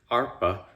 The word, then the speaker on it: arpa: And the word arpeggio comes from the Italian word arpa, if to give it an Italian pronunciation, that is the word for harp.